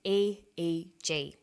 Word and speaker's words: EEG: says an EEG that's an abbreviation we don't pronounce it ich we say a eg EEG stands for electroencephalograph that's a type of